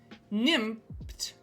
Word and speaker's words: Nimmt: Six Nimmt rhymes with limped.